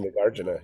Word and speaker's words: Nagarjuna: say Nagarjuna, yeah, but Gotcha, I'll go with you.